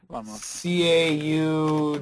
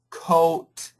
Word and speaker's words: caught: ah CAU yeah yes c a u g h t c o a t c u t I'll give you three words CAU coat cut I'll look straight at